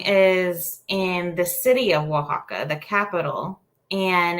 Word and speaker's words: Oaxaca: I mean, even some Spanish speakers that aren't from Mexico, they will pronounce it differently because it is an Aztec name. Well, it's derived from an Aztec name. So Oaxaca is one of the